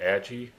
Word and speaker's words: Agee: And uh so without further ado, I will welcome Age. Did I pronounce that right? Or is it AI? Uh, it's AG. Close enough.